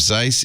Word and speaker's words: Zeiss: The pronunciation of Zeiss is Zeiss. Zeiss. Zeiss? I always said Zeiss. Because Zeiss. Die Zeit is the site. Die Zeit. The German Zeiss.